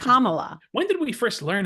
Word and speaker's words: Kamala: in all seriousness I have always said Cala like back from back but it's Kamala when did we first